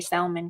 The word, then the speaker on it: salmon: know I can't say salmon correctly. So, is salmon not fed like salmon? You're not supposed to pronounce the L.